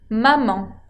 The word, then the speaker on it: maman: se le puede decir maman. Maman sería el equivalente de mamá, pero termina con una nasal. La A con N, que acuérdense se pronuncia nasal maman.